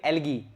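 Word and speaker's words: algae: Monera के अंदर आ जाता है बैक्टीरिया, ब्लू ग्रीन एल्गी, ये एलजी कह सकते हो आप, इसको एलगी कह सकते हो, यू can pronounce it एज एलगी और एलजी।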